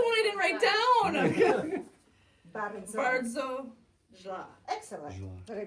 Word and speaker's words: bardzo: And if you want to sound very Polish, because he has a cute American accent when he say bardzo. Say bardzo. Bardzo. Bardzo. I can't roll ours.